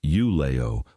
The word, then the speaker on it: Ulao: Ulao, pronounced U-lay-o, was a working port on Lake Michigan founded in 1847.